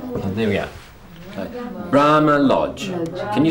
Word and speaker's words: Brahma Lodge: Brahma Lodge. Bra. Lodge. You're both correct. It is. This is the strong one, and this is the strong one. And there we are. Okay. Brahma Lodge.